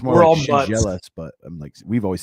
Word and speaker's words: Schendzielos: So if you do your shin and you're jealous, you're jealous of your shin. Schendzielos. Yeah. The D and the Z, you pronounce like a J.